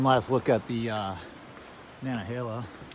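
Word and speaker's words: Nantahala: look at the uh nanahala there's a t in the word but i don't think you pronounce the t i think it's nanahala hill and i pick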